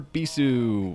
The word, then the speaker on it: Bisu: sad all Von for bisu which is not rhyme with c and uh he's preparing